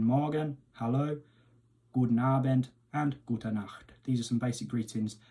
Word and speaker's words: Gute Nacht: on the end, and the CH sound you really want to get from the back of the throat, so it's a Gute Nacht. So we have Guten Morgen, Hallo, Guten Abend, and Gute Nacht.